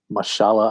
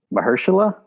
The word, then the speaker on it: Mahershala: yeah yeah so paulie any thoughts on theo mashallah ali is that his name is like super serious the most serious guy in hollywood yeah yes yeah sweet how do you say his first name ursula mahershala yep well okay i love it uh okay